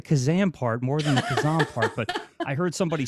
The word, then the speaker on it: Khozam: It's Khozam correctly. So I'll say that. Khozam. I said it wrong.